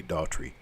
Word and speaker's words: Daughtrey: da ugh tre why if you look at how it's spelled you can't pronounce it but one way Daltry it only makes sense one way but if you don't